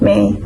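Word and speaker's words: mhie: is the word me it spelled out m h i e but it pronounced as m a e so may is a word come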